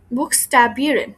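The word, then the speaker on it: Buchstabieren: আচ্ছা, তারপর হচ্ছে বুকস্টাবিয়েরেন। বুকস্টাবিয়েরেন কি? বুকস্টাবিয়েরেন হচ্ছে কোনো কিছু স্পেলিং করা, বানান করে বলা। বুকস্টাবিয়েরেন মানে হচ্ছে বানান করে বলা। এখানে উচ্চারণ করব বুক, তারপরে স্টা বিরেন, বুকস্টা বিরেন, উচ্চারণ করে, সরি, বানান করে কোনো কিছু বলা।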